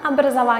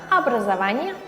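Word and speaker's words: образ: arada siz fark etmişsinizdir Biz obrazovanie yazıyoruz ama abraz olarak söylüyoruz Neden Çünkü o harfi vurgulu olduğunda ya da olmadığında farklı bir şekilde söyleniyor vurgulu olsaydı obraz olarak okunurdu ama burada abraz olarak okunuyor Kolak yık dil bez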